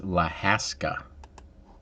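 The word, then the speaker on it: Lahaska: find that out though it's la haska yeah la haska neat little shops i've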